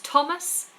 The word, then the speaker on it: Thomas: So we always stick our tongue between our teeth with THs, apart from the names Thomas and Teresa.